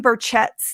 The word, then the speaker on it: Burchett: And Rave Daddy 523, Tim Burchett's name is pronounced Burchett.